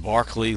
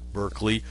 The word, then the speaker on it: Berkeley: Doctrine was George Barkley it's pronounced Barkley like the basketball player not Berkeley although Berkeley California is